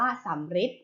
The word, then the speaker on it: สัมฤทธิ์: ลูก ต่อ ไป ค่ะ สัมฤทธิ์ ค่ะ สัมฤทธิ์ อ่าน ว่า สำริด นะ คะ แบบ นี้